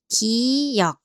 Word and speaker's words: 기역: Okay, the first one is 기역. What does this shape remind you of? Yes, think of a gun. 기역. A gun starts with a g sound, so 기역 makes a sound similar to g.